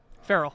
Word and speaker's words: Farrell: But spelled like Colin Farrell, not Will Ferrell.